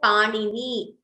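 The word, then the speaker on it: Pāṇini: So when we say panini, first is ni and next is na, ni.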